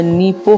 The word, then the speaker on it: Nippon: लेकिन जापान में उसे निप्पो कहते हैं। हम इंग्लिश लेटर में तो इसे NIPPON ऐसे लिख सकते हैं, लेकिन इस शब्द का असली प्रोनाउंसिएशन ऐसे नहीं होगा। इसकी असली प्रोनाउंसिएशन होगी नीप्पो।